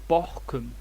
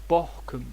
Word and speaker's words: bokum: though there's no accent compare this with bokum bokum here the o is short because the syllable is closed and there's no accent to summarize if the